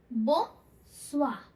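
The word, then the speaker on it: bonsoir: सो हम इसको क्या बोलेंगे, बोंसोir.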